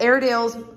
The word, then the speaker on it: Airedale: and uh well and airedale's I know you guys are Airedale buyers so you know how to spell air deals but that a-i-r-e that silent E there is very tricky for people and it's just been